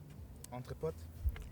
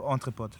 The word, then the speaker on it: EntrePOD: EntrePOD. EntrePOD. EntrePOD. It sounds a bit like octopus.